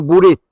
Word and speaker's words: bolet: sa pronuncia u, esempra, sa scriu bolet, e sa diu buret, bottiga sa diu butiga.